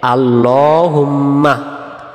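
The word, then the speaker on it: اللهم: আমরা অনেকে বলি আল্লাহুম্মা, এই শব্দটা উচ্চারণ সহি হবে আল্লাহুম্মা, হুম্মা মিমে তাহসিদ গুণনা হবে, আর আল্লাহ শব্দের ডান দিকে জবর থাকলে উচ্চারণ হবে লামটা ল বলে।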